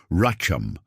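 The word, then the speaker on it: רחם: The Hebrew word that precisely defines what's happening to you is racham. Pronounce it softly with me wherever you are.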